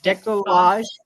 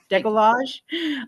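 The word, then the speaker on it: décolletage: Decolletage. Decolletage.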